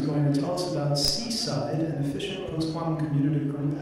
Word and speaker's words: CSIDH: And we called it, so it's called CSIDH, but we prefer to pronounce it like Seaside because it was in Tenerife, okay?